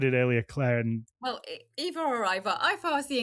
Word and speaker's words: Ivar: Well, I always here's the thing, that the Old Norse I in English and the Scandinavian I is pronounced E, like the letter E in English.